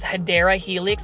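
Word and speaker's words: Hedera helix: know this is a HRA helix or you know the correct way to pronounce it is hadera helix or English ivy this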